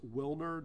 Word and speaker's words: Wilner: And can we get the name spelled out and pronounced? Yeah, I will absolutely do that for you. His first name is Wilner, W-I-L-N-E-R, Cyprian, C-Y-P-R-I-E-N, 31 years old.